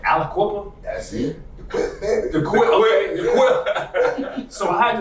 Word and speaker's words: Aliquippa: you're from Pennsylvania and uh I hope I'm pronouncing this right Aliquippa that's it so I had to I it